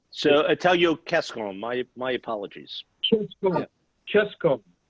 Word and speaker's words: Cescon: So anytime you have a C and it's followed by a vowel, it's always hard. It's a hard C. So Italio Cescon, my apologies. Cescon.